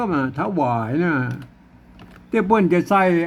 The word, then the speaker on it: ถวาย: นะ ครับ นอก วรรค อ่าน ว่า อ่าน ว่า ถวาย นะ อัน นู้น หลัง ๆ มานะ เปิ้น บอก